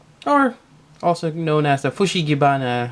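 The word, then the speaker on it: フシギバナ: And I got my Venusaur, or also known as the Fushigibana. I think that's how it's pronounced in Japanese.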